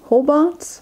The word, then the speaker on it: Hobart: in Ho in hobart's Hobart I don't remember how they pronounce it it's a long o how about in Tasmania